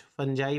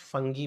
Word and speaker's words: fungi: कुछ फंजाई pronounce करते हैं, कुछ फंगी प्रोनाउंस करते हैं, सेम है फंजाई, फंगी।